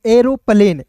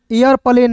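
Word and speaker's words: aeroplane: आर ओ को पढ़ेंगे एरोप्लेन, ए ई आर ओ पी एल ए एन ई, ए आर प्लेन, एयरप्लेन नहीं एरोप्लेन पढ़ेंगे।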